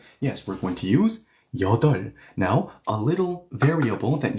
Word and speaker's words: 여덟: Okay, so let's use this counting unit and say T 여덟. Once again, listen carefully. I am not pronouncing the B. It's going to be silent.